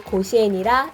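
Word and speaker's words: 甲子園: 개장 연도가 갑자년인 1924년으로 갑자원의 일본 발음이 고시엔이라 이런 이름이 붙었다고 합니다. 매해 3월 선발 고교 야구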